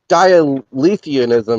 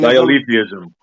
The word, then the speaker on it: dialetheism: know, something like that's dialetheanism, or that term that he introduced to all of us. You know the one, SE? What did I say it right? Yeah, Dialetheanism? dialetheism. Yeah.